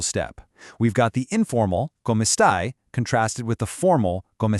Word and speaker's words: come stai: Notice how the end of stai rhymes with I.